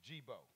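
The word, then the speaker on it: D'Jibo: a story dejebo ciao my name is gebo but it's spelled d apostrophe j-i-b-o the d is silent like your little ass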